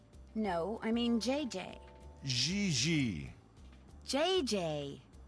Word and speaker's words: Gigi: En français, you pronounce G like now we have J this again. and Oh my J God. like G. She may very well be JJ in America, but in France, she is Gigi.